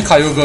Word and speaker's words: Kyogre: is such a wussy everyone knows kogre or Kyogre as everyone calls it it's better although I'm pretty sure kyoga is the official pronunciation it says that